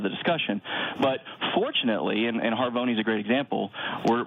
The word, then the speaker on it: Harvoni: I'm looking at a hepatitis C drug, Harvoni. Am I pronouncing that correct?